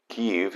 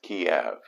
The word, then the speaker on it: Kyiv: Also, Kyiv is the Ukrainian pronunciation of the capital that Russians refer to as Kiev.